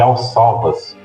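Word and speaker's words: Alcáçovas: Só um detalhe, você esqueceu de citar que antes do Tratado de Tordesilhas existia o Tratado de Alsalvas, que é assim que se pronuncia, que basicamente delimitava o mundo a partir das Ilhas Canárias.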